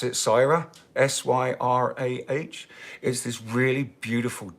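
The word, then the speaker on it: Syrah: before this is great it's uh I'm gonna pronounce it Cyra s-y-r-a-h is this really beautiful deep deep blood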